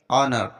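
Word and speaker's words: honour: अब यहां पर देखो एच के बाद ओ आया है तो एच हमारा साइलेंट रहेगा ज्यादातर स्पेलिंग में डब्लू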